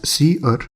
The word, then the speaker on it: cerr: Then, we have cerr pronounced as see-err which is the standard error object.